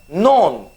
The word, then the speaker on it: known: word or something like non k-n-o-w-n here k is silent okay so omit that